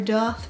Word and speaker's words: daith: what you're talking about if you say either pronunciation for the remainder of this video because this video is entirely about this person i am gonna go with the most common pronunciation because i'm already tired of saying davedoff so i'm just gonna go with dave anyone who is like oh